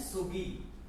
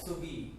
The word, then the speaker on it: seogi: Okay, so first basic, ये आपने stance को हम बोलते हैं सुगी, SEOGI, सुगी. Okay, so this is what we call closed stance.